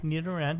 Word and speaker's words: Nidoran: I was saying it wrong earlier. So it's a Nidoran? Nidoran, yeah.